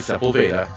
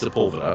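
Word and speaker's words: Sepulveda: pronounce it wrong now I know how to pronounce sea yeah I used to say sea it is not that it's seula yeah um but Spa building and it's the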